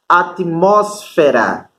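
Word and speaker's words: atmósfera: tenho aqui ó atmosfera em português a sílaba tônica vai ser se f é aqui ó em espanhol a sílaba tônica vai ter essa que tá acentuada atmosfera Esses são as diferenças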